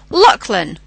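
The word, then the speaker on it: Lachlan: the word for example a name luckan now even though it's spelled l a c h l a n and if we start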